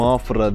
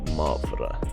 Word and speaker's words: Mafra: şöyle yaklaşım size ama olarak telaffuzu yanlış oluyorsa düzeltin benim Afra diye söyledim ama mafra bakalit yani torpido temizleyici